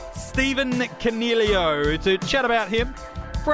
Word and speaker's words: Coniglio: the Big Sound, Stephen Coniglio, to chat about him for a hat-trick of episodes. I got Rids. Hello, buddy. Hey, mate, and just remember the G is silent.